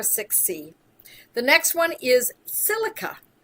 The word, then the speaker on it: silica: The next one is silica, or sometimes people pronounce it silicia.